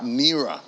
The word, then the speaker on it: NiRA: And I don't know, do you pronounce it NiRA? NiRA. NiRA. Correct.